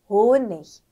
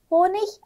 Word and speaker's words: Honig: Gut, Tag, Honig. Honig 아니면 Honig. 예를 들으면 남독일에서 Honig 훨씬 더 많이 쓰는 건데 근데 일반적으로 Honig 맞습니다. 네, 그래서 호니시 아니면 호닉 둘 중에 사용하시면 될 것 같고요.